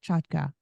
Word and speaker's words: Chotka: go by that sure you pronounced my name correctly so kudos to you it's a Ukrainian name now everybody in America